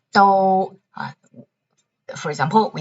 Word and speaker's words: 都: Number 1, 都, for example, we say 都是 something something. Second pronunciation, 都, 首都, okay.